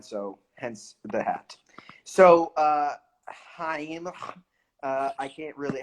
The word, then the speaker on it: Chaim: So Heim. I can't really. How do you pronounce it? Geheim. Yes. Not gonna work. Just pretend to spit at someone and then Yeah, yeah, pretend to yeah.